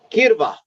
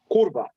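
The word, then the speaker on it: курва: V A A yes try to pronounce this kirva so the Y pronounces like U on Ukrainian yeah yeah yeah yeah it means puta kurba it means puta it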